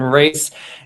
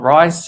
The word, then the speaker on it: Rhys: agency if you're trying to find me on LinkedIn it's Braden Reese kind of pronounced like Reese's Peanut buttercups not rice if you're trying to